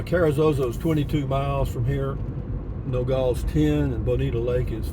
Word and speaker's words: Nogal: That's how you say it, Nogal.